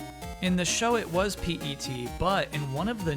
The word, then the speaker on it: PET: I don't mean to be that guy, but it's pronounced PET.